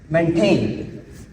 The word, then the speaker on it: maintain: So now here, this is a second syllable, and it should be pronounced like maintain.